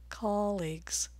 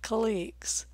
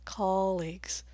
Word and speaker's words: colleagues: the first syllable and colleagues colleagues not colleagues in the US and Canada we don't say colleagues we say colleagues just like college vowel nine is called